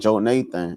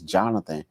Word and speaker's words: Jonathan: college teacher told me, she said Joe Nathan. And I was like, no, it's Jonathan. Well, it's spelled Joe Nathan. I said, no, ma'am, it's Jonathan.